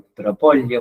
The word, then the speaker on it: propóleo: De hecho, está comprobado que el propóleo, con acento en la O, mejora la capacidad de ciertos linfocitos para mejorar nuestro sistema inmunológico.